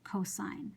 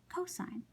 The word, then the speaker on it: cosine: You don't pronounce that cos, you say cosine. So you write COS as an abbreviation, but you pronounce it cosine.